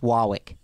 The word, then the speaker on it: Warwick: And it's pronounced Wawwick. Oh, Wawwick.